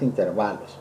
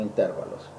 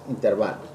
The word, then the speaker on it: intervalos: Porque como no tiene acento, la pronunciación correcta es intervalos, porque son de tiempo, ¿sí? No intervalos, como lo pronuncié hace rato, es intervalos.